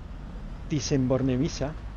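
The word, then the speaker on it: Bornemisza: en Madrid el Museo Nacional dicen borne Micha pronunciado borne visa es una pinacoteca de maestros antiguos y modernos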